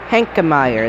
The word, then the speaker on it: Henkemeyer: Will come back out to Henkemeyer. That's how you pronounce it. Heckenmeyer.